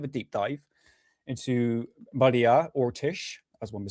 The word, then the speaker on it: Orsic: deep dive into Maria Ortish as one would say. People call her Maria Orsk, but the real pronunciation actually got three pronunciations for it, but it's Maria Ortish.